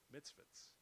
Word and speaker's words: mitzvah: There are only 613 mitzvahs. So your father, Mitzvahs. Yeah, I'm sorry if I'm pronouncing it wrong.